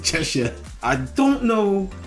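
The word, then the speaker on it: Cheshire: hard to pronounce look it's spelled Chesire ches but they pronounce it chesa I don't know how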